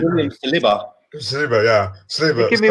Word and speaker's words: Saliba: be so much in a rush to resign Sabia. How do you say his name? Tobias. No, the Danny. William Sabia. Danny Tobias. We'll just go with Danny. Danny C. William Saliba.